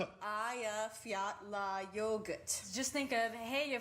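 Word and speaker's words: Eyjafjallajökull: air traffic as well as reporters who couldn't pronounce it the glacier is called Aya fettler Aya Fiat La yogurt just think of hey you forgot your yogurt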